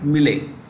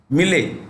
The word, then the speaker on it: Milei: Argentina's capital is Buenos Aires, it's mentioned there, and the president is a right winger, Javier Milei. Javier. Let me repeat, Javier, Javier Milei, Milei, Milei. Okay. Javier. J is pronounced with an H in Spanish.